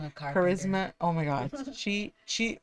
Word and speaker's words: Charisma: Charis caris. Charisma. Charisma.